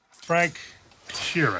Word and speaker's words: Frank Sheeran: Frank Sheeran. Am I saying that right? Yeah, you said it right.